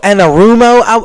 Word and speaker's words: Anarumo: Lou Anarumo, I believe that's the way that you pronounce his name.